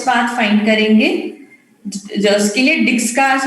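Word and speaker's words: Dijkstra: जिसके लिए डिक्सट्रास एल्गोरिथम, इसमें जे साइलेंट होता है, डिक्सट्रास एल्गोरिथम बोलते हैं.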